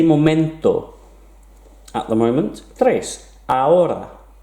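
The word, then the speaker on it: hora: at the moment tres aura again don't pronounce the h aura cuatro number four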